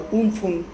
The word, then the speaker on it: Amphan: by a super cyclone Amphan, or Umphun as it is pronounced in Thailand.